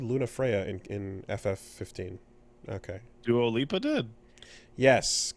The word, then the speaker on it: Dua Lipa: Dua Lipa did.